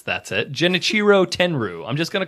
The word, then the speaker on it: Tenryu: Uh Tenrew, though, that that much I know that's how you pronounce his last name. So, we're just going to call him Tenrew. So, Tenrew is a former sumo wrestler.